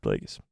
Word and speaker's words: Plagueis: Plagueis? Did I get that right? Yeah, there we go. Darth Plagueis. Every time I, like, spell it wrong, or I spell it right and